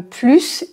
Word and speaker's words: plus: tu en veux davantage tu en veux plus ici on prononce le S pour tout ce que